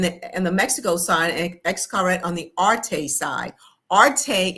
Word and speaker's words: Xcaret: It's called Excret. It's spelled X C A R E T.